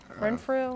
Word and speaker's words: Renfrew: Renfrew?